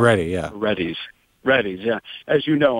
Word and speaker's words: Reddy's: pronounced? Reddy, yeah. Reddy's.